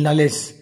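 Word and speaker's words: knowledge: शब्द देथिबो इंग्लिश रो जिंदी KNIFE KNOW LED नॉलेज तो ये जो वर्ड देला यही वर्ड मानकर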